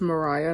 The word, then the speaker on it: Mireya: sense it's it's Mariah cuz my name is Mariah it's spelled mi re Y a not ma RI a H so it'll be it's Mariah the way I spell it not Mariah the way you would spell it most likely so thank you this